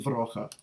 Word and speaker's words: Vroege: The English pronunciation of his last name is Vroege, but for those of us who know him really well, it's Vroege. So let's hear from Vroege.